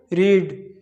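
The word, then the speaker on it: read: How many books do यू रीड, इसका passive voice होगा how many books are रेड बाय यू। रीड की third form होती है रेड, पर spelling same रहती है, केवल प्रोनाउंसिएशन चेंज हो जाता है।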